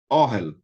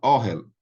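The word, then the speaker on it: אֹהֶל: Então, é Orhel, palavra que aparece demais, que é tenda. Tenda, tenda é Orhel. Então, veja bem, primeira característica do segolado, ele vem acentuado na primeira sílaba.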